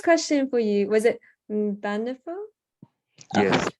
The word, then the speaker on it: Mbanefo: So my first question for you, was it Mbanefo? Yes, Mbanefo. Did I pronounce that right?